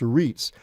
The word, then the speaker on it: REITs: estate as a group REITs r-e-i-t okay just how you they've spelled Reit pronounced REITs allow you to just